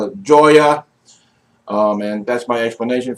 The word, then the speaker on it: Joya: is this cigar company joya the nicaragua or hoya to nicaragua depending upon how you pronounce it and if you pronounce it incorrectly i prefer to call it joya to nicaragua because it brings me so much joy and i'm american and j-o-y-a spells joya i mean if you're spanish i can understand hoya